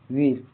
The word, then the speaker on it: weir: WEIR का उच्चारण pronunciation वीर। यहाँ EI का उच्चारण इ जैसा होता है। यह शब्द सुनने में WERE जैसे लगता है।